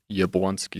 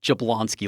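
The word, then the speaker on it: Jabłoński: concept of important concept and often mispronounced Yabwanski. I can't I can't handle it. Is that seriously how you say I've been saying this wrong for 42 years. Yep. I've been calling it Jablonsky like an idiot.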